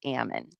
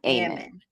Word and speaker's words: Ammon: It's Ammon, not Aean.